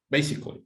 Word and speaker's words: basically: This one, basically, how many syllables can you hear? Basically. Three, Andrea? Yes, you're right, Andrea. Basically, yes.